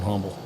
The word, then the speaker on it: Humble: I have a hard time not pronouncing that H on Humble.